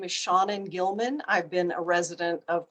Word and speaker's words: Gilman: My name is Shannon Gilman.